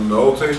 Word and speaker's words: Nolte: The applicant is Angela Nolte, is that the correct way to pronounce that? That's correct.